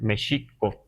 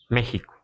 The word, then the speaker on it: México: que para el na esta x le damos un valor de por eso Entonces debemos decir Mexico todavía y eso lo podemos este constatar todavía en algunos pueblos pero ya el grueso de la población castellanizada hablando el español dice México verdad este de pueblos de